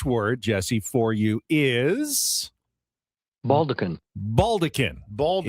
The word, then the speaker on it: baldachin: Baldekin. Baldekin. It looks like maybe baldachin, but it's pronounced baldekin.